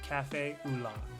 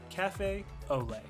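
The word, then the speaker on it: café au lait: I had to try the famous beignet and cafe Oola. I think that's how it's pronounced. Or it might be Ole. One second. Quick Google search. Olay. Okay. Cafe Olay.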